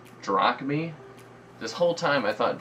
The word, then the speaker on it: drachmae: This whole time, somehow I just had mispronounced it throughout my entire life. In books, in historical books, in class. I've been pronouncing it drachma. It's apparently drachmae.